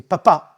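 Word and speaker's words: papà: D'ailleurs, en italien, ils disent papa pour le pape et papa pour le père. Simplement, l'accent tonique va changer. C'est papa pour le papa et papa pour le pape.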